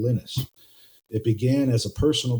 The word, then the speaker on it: Linus: Linux was created in 1991 from the vision of a young student from Finland named Lennis Torvalds and he does pronounce his name Linus.